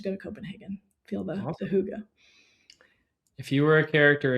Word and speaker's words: hygge: Like, yeah, there's this concept of, I think it's called hygge, pronounced as Hygge.